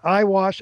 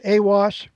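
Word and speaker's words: Aiwass: book was revealed by I pronounce it iwas awas and I'll Define him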